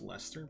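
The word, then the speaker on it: Leicester: number of years ago it's pronounced Lester pretty sure English is a stupid language said the person speaking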